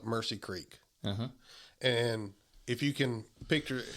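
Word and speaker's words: Omusse Creek: Well, we had the spot we hunted, and it was on it's spelled OMUSSE, but they call it Mercy Creek.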